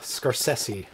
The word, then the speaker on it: Scorsese: The Scorsese. Scorsese. That's how he pronounces it.